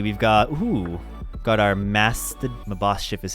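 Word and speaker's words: Maschiff: then let's see we've got got our masked my boss ship is how you pronounce it uh and then we have a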